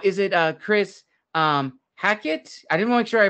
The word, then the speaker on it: Hackett: welcome Chris now is it uh Chris um hackit I didn't make sure I pronounced your last name right yes yeah hackit yep that's it and I'm happy to should